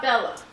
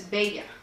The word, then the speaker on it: Bella: you I am bega and it's not Bella its beta and uh the reason its failure is because